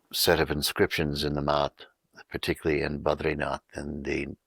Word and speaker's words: math: In India, if we go into the academies of learning, which are known as a math, M-A-T-H, it's pronounced as math.